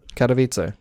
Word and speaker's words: Katowice: correct yeah so say the first one again katowice katowice okay i didn't know how to pronounce that okay i guess you know how